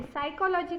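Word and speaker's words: psychology: के लिए लिया तो उसमें हम पी लिखने हैं सा आ सी हा ओ ल ओ जी ए बट हम पी का उच्चारण नहीं करते साइकोलॉजी कहते हैं या निमोनिया भी वैसा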